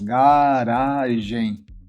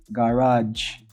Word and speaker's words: garage: Nesse caso aqui, ó, a sílaba tônica é a segunda, garage.